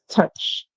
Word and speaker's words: touch: to tou sorry guys in touch we do not hear out we hear right so basically the song that we hear there is the you making the song so the O is basically silence so we have to